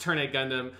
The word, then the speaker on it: Turn A Gundam: so he's decided Well so it's pronounced turn Gundam and to make sure